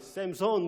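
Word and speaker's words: Samson: 우리는 한글로 삼손이라고 이렇게 이야기를 하지만 영어로 발음하면 샘손 이렇게 되겠죠.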